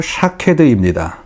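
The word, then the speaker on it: שָׁקֵד: 살구나무는 히브리어로 샤케드입니다. 지키다는 히브리어로 쇼케드이다 라는 말입니다. 말의 발음이 같습니다.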